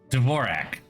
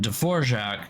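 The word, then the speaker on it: Dvořák: I do know that the composer is anonin dvorac and the keyboard layout is Dvorak it is actually Dvorak um but the reason the keyboard layout is dorak is because when the guy who created the keyboard layout moved to the United States He Americanized his name um whereas dvorac I mean you just pronounce it the way it's it's it's passed through an American accent but it's not yeah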